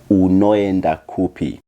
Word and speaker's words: unoenda kupi: For example, unoenda kupi. This is pronounced unoenda kupi. This is important to understand that even a vowel by itself, it is pronounced separately.